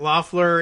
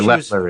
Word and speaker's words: Loeffler: Loeffler is filling... Or Loeffler is the proper Loeffler, pronunciation. right, so Loeffler is filling someone else's term.